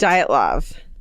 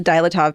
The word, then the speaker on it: Dyatlov: And did you look up the pronunciation? Yes. It's great. Dyatlov. Because I've been making it up, the Me too. pronunciation in my head every time I look at it. Until today, it was the Dyatlov Pass in my mind.